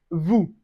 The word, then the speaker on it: vous: We don't say vous, we say vous.